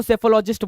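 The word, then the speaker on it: psephologist: जो ये करता है उसको सैफोलॉजिस्ट बोलते हैं क्या लॉजिस्टिक technology साइकोलॉजिस्ट एस ए पी हा ओ ल ओ जी आई एस टी साइलेंट हो गया राइट चलो आगे चले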